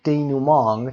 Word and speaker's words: denouement: کلمه denouement تلفظش denouement denouement به این حالت یک کلمه فرانسوی هست.